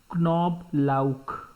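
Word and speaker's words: Knoblauch: above or over KN example is knob Luke which means garlic rule say both sounds in English we keep the K silent but not in German so in knob log K will also be pronounced when e is at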